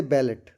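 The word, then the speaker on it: ballet: जैसे बैलेट बेले we pronounce as इन बेट।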